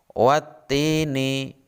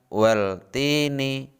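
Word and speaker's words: وَالتِّينِ: bertemu dengan huruf ta cara membacanya watini bukan weltini jadi seakan-akan alif lam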